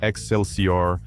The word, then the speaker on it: XLCR: Le Axel sier prononcé Excelor était la brève et glorieuse tentative de Harley Davidson de devenir punk rock.